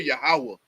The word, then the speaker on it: Yahweh: he was reading said it spelled the same way like Yahweh but y'all pronounce it yahwah yahwah right and that's